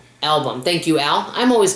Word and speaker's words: Albom: It's Tuesdays with my Mitch and I'm not sure how to pronounce his last name. Album. Album.